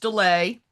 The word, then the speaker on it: Delay: And my last name is pronounced Delay, which you were not the first person to mispronounce.